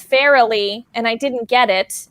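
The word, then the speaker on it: Farrelly: match against racial cushing where i said the farley brothers but it's fairly and i didn't get it and because i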